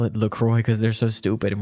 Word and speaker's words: LaCroix: When it first came out, people were saying LaCroix. And the company was like, nah, it's LaCroix."